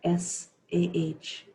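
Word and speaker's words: Sah: On the exhale, the mantra is Sa, S-A-H, Sa.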